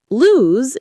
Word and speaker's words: lose: Lose has a z sound.